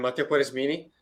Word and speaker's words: Mattia Quaresmini: And last but not least, we're joined by a recent alum, Mattia Quaresmini. I think I hopefully pronounced it correctly, who's an alum of the full-time MBA program.